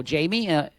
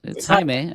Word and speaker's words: Jaime: my name is Jaime, they're like, "Oh, Jamie," Jamie. And I'm like, "No, it's Jaime. I didn't just create a fancy pronunciation for Jamie."